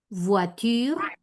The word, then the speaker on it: voiture: Oui, Botois, voiture, voiture, eh, reemplazás la OI por ua y ¿cómo te queda?